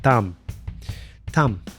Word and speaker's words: TAMU: a Tom being hit TAMU h in Japanese as I understand it the u sound is barely pronounced so that when said it sounds more like tum tum she got the nickname